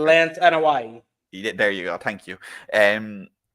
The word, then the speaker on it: Anoa'i: I can never pronounce the Samoans' names correctly. Lance Anoa'i.